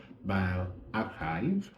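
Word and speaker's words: bioRxiv: is bio archives so it's spelled b-i-o-r-x-i-v or it's pronounced by archive and this particular website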